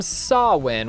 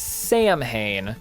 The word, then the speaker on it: Samhain: the rules whose name is also derived from sawwin which is commonly mispronounced as Samhain so in A Christmas Carol Ebenezer encounters the